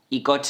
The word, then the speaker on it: coche: Obviously you will be seeing that "cera" is pronounced with the θ sound and "coche" with the K sound.